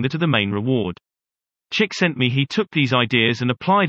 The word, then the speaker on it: Csikszentmihalyi: Before turning his mind to creativity, psychologist Mihaly Csikszentmihalyi, pronounced Csikszentmihalyi, wrote a celebrated book called Flow.